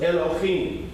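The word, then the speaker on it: אלהים: So olive, L, okay, E with the L. Okay, this is L, and that's what? The dot on top. O. El, lo, him. Okay? Because this, you're adding an O, so it's Elohim.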